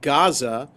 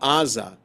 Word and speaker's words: Gaza: So that's why the place is called Gaza and not Aza, with an A in English. Okay, because it reflects the how the place would have been pronounced by the people who live there.